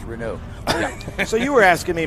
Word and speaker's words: Renault: first thing they said it's pronounced renew so you were asking